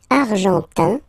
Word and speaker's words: argentin: And then l'Argentine, argentin, I-N gives you this un sound, argentin, okay, and then argentine,